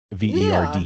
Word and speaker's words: Verde: Yeah, you look it up on Marryiam Webster and it says verd.